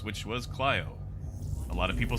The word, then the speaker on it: Clio: up you can pronounce clio as cleo either way but the traditional greek pronunciation is clio and it's based off you know the the greek muse which was clyo a lot of people